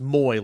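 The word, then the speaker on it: Moe: Jr it's looked like it's spelled like Mo but it's pronounced Moy like Jackson Moy um so so that's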